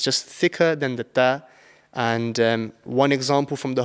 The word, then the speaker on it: ط: So the best way to pronounce this is that your tongue should be touching the bottom part of your top teeth, and you just blow out and you pronounce it and you just say ta.